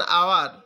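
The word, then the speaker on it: hour: তারপরে আছে কি অ্যান আওয়ার, হ্যাঁ অ্যান আওয়ার, এই যে এইচের উচ্চারণটা এখানে অ্যান আওয়ার।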